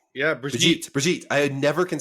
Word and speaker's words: Brigitte: Yeah, Bridget. Yeah, Brigitte.